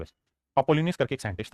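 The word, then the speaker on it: Apollonius: ए पी O double L ओ एन आई यू एस अपोलिनियस करके एक scientist था mathematician था उसने मिड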